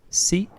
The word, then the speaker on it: sì: Sì, no. And notice that the pronunciation of no is a bit different.